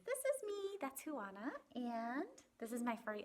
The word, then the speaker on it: Juana: juana's ideas chapter one my name is huana it's spelled j-u-a-n-a and it is pronounced things i like are